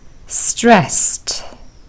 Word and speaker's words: stressed: Frustrated, stressed, amazed. And here are the answers. Frustrated, ed is pronounced as id, frustrated. Stressed, ed is pronounced with t, stressed.